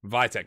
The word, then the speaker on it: Vitek: Because Mike also, I'd asked him, he sent me pronunciation help. So it's Vitek, but I doubted myself